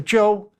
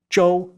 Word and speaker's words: Zhou: At that time, China was ruled by a dynasty called the Joe, spelled Z H O U in pinion, Joe.